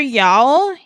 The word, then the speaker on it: Yao: It's pronounced Yao.